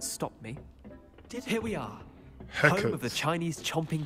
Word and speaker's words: Hecate: Hecate. Home of the Chinese chomping cabbage. That's how you pronounce her name.